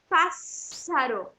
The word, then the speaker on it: pássaro: 2 R's, que é, se fosse um S só, talvez ficasse pássaro. E aqui os 2 S's formam a sílaba fazendo pássaro. Pássaro. É quase um som daquela letra que a gente tem, cedilha.